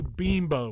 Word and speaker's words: Bimbo: put on the bread say bimbo with two e's because it's spelled b-i-m-b-o so how long do